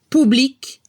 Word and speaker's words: public: En francés, si no escucha la C al final, como blanc, se transforma en CHE al femenino. blanc, blanche. Pero si escuchamos la C al final como public, se transforma en Q-U-E al femenino. Public, public. La clave está en el sonido.